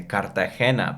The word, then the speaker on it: Cartagena: say it with a Latin or the Spanish accent, say Cartagena, but then people might not understand me.